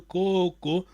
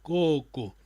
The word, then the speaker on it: Koko: Nkutu Azoa Mbalamosi Isiwanga Koko. Cuidado, Koko é vogal longa. É por isso que eu disse, a tua pronúncia dá sentido à palavra. Koko.